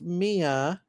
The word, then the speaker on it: Maya: Maya is pronounced Mia, my granddaughter's name.